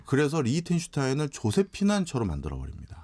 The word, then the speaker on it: 리히텐슈타인: 리히텐슈타인. 네. 네.